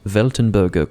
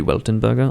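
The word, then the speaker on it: Weltenburger: this particular beer now i'm not german but i think it's pronounced veltenberger cluster could also be weltenberger i think in some cases they pronounce the w as v and then in others they don't i realize that the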